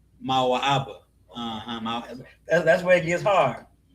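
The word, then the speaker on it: מואב: Right here, how do you say Moab in Hebrew? Mawa'aba.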